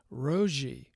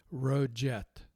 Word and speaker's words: Roget: that we use Ro another pronoun pronunciation was ROI ROI and the third pronunciation and the one that I'll bet is actually right is roet I'm guessing that the English pronunciation for his name would be roet for what it's worth